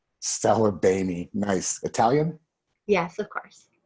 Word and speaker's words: Saglibene: So it's Saglibene, and I always tell people that the G is silent like lasagna. Saglibene.